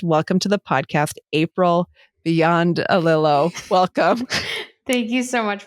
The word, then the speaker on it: Biondolillo: And then you told me how phonetically it's pronounced. And I have it in my notes, Beyond a Lillo.